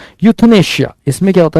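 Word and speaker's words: euthanasia: तो that is यूथनेशिया। ए इज़ the correct answer. यह pronunciation होता है।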